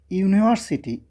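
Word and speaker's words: university: আরো ভালো লাগবে ধর যখন কেউ বলবে যে ইউনিভার্সিটি ইউনিভার্সিটি খেয়াল করো তখন ইউনিভার্সিটির সামনে ইউ উচ্চারণটা হবে ইউ ইউ ইউ।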